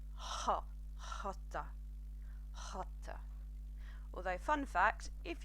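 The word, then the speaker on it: jota: everybody knows that a J in Spanish is pronounced hot hotter hotter although fun facts if you speak Portuguese you actually do pronounce it jatta but today we're going to be doing hotter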